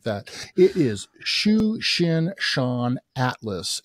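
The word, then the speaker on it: Tsuchinshan-ATLAS: Comet for us you're the best one at pronouncing you would catch me off guard like that it is Shu Shin Shan Atlas it's c2023 A3 so the 2023 means that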